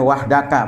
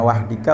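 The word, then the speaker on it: وحدك: alatu maqqq wata wahdaka ya bacanya wahdaka bukan wahdika bukan wahduka ya sebagai apa khobar kana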